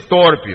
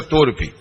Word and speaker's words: torpe: torpo e ganância moderado muita gente pronuncia torpe mas é incorreto aqui deve ter gente boa de português e sabe que a pronúncia é torpe mas moderado não contencioso